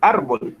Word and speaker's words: árbol: Usted no dice árbol, sino dice árbol, ¿sí? Entonces, la fuerza, esa fuerza que usted genera en la palabra, la dice o la hace en esta sílaba ar. Se dice árbol, ¿sí? Entonces, esta es la última sílaba, ¿sí? Y esta es la penúltima. Entonces, el acento está en la penúltima sílaba, ¿bien? Efectivamente, está en esta sílaba.